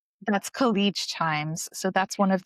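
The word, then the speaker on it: Khaleej: That's Khich Times.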